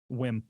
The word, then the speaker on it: Wim: Wim.